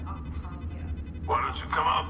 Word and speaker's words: Octavia: And it's pronounced Octavia. Why don't you come out peacefully? Why don't you bite me? Your cousin Joanna is already on the shuttle, Octavia.